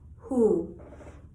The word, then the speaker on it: who: The letter W fools us. It appears to be part of a digraph, WH, but is actually silent. Who?